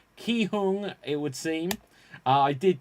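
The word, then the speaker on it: Gi-hun: four five six and it is uh pronounced key hung it would seem i did just check the pronunciation but it's felt as if i was saying but apparently it's pronounced uh ki hoon and that is the character so marty despite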